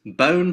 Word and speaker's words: bone: bone okay bone it's a silent E silent E they don't say the sound of the letter E in this word is O bone okay